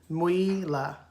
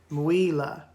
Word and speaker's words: Mwila: Mwila is how Miss Merriam-Webster would have broken down his pronunciation. Mwila.